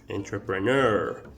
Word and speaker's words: entrepreneur: that word however i the pronunciation was wrong you have to pronounce this word entrepreneur entrepreneur all right great and